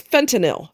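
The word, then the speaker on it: fentanyl: It's fentinil. Stop put stop putting a ll in that word. It ain't in there.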